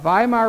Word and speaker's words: Weimar: new government now called the Weimar Republic or the Germans to save them are the the Vimal Republic was set up specifically